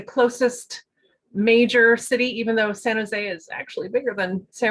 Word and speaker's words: San Jose: San Jose? Yes. Yes, San Jose.